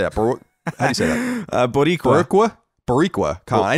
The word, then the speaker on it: Boricua: David Rivera wrote into us and said, hello, Italian Colin and Barakua. How do you say that? Boricua.